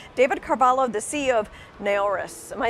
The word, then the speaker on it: Naoris: with me today David Carvalho the see of a horas am I saying it right first you are